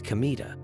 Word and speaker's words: Kamita: incident with Troublesome customers Kino learns his name kamita written with the characters for God and field pronounced not as K but as kamita the incident occurs when